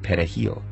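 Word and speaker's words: perejil: Spanish word for parsley Dominicans pronounced it pet a heel with a trilled Spanish are the primary haitian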